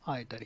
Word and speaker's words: either: दोस्तों, इसको कुछ लोग ईदर भी पढ़ते हैं और आइदर भी पढ़ते हैं, लेकिन सही प्रोनाउंसिएशन आइदर ही होता है।